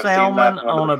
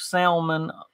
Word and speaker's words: salmon: oh wow hmm smoked salmon bagel with cream cheese and onions smoked white what did you say smoked Salman Salman on a bagel nope salmon the L is silent on a bagel with